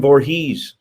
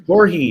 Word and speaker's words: Voorhees: I would say him Voorhees, Jason Voorhees, and they're like, that is cut, it's Voorhees, Yeah, and I'm that's like, no.